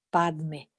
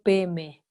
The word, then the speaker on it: Padme: Sin embargo, los tibetanos no podían pronunciar ese Padme y entonces quedó Peme, porque ellos cuando tienen la sílaba Pad en cualquier otra palabra tibetana la pronuncian P, la Da queda muda, pero cambia la A en E, entonces Pad queda P.